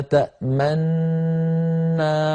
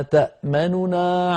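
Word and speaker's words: تَأْمَنَّا: إعرابيا وإنما سكنت للإدغام، يضم القارئ شفتيه هكذا رويت لنا: ما لك لا تأمنا على، ما لك لا تأمنا على، يضم الشفتيه ضما لا أثر له في الصوت وإنما هو منظر فقط.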